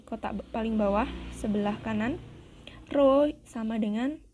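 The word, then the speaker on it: ρ: Nah, yang bentuknya seperti huruf P ini, cara membacanya adalah rho.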